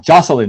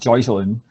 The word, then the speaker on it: Jocelyn: Jocelyn, not Joycelyn.